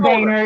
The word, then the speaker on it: Boehner: Sorry, John Boehner is his name, but it is spelled like boner.